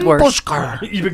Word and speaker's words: Puszkar: say it wrong because I want to say Puszkar. That's okay. Call me anything you want. Puszkar. I've been called worse. Puszkar.